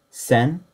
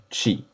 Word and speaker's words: 千: the concept of thousand the major readings for this kanji are sen and Chi that simple alone is read as sen N means thousand one